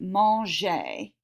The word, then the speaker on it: mangé: So what that means is you should say something like j'ai mangé. Okay, remember the E with the accent aigu. This is pronounced, I'm going to make this bigger. This is pronounced A.